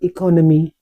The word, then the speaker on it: economy: four syllable word and the stress is on the second sound c economy.